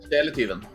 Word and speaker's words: Sjeletyven: Sjeletyven. It's pretty good. It's pretty good. For my American. There you go. I'll take it. I'll take it. Now you say it, though. Pronounce it properly. Sjeletyven.